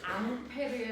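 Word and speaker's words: Ampère: 앙페르의 오음나사 앙페르 굉장히 어느 나 프랑스 프랑스페앙 같은 거 들어이 앙페르라는 사람을 우리는 암페어라고 읽고 있죠.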